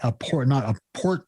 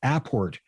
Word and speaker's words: apport: So clarify, you're saying apport material, not a port material, but apport material.